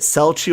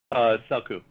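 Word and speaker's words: Celchu: Is it Selchu or Kelchu? Selku. Selku? Okay. Yeah. There we go. I was really close because I would say Selchu.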